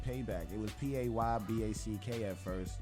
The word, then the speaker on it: Paebak: We just say Paebak. You check? Right. So the P-A-E-B-A-K is actually comes from the pronunciation of the word payback from a Virgin Islander.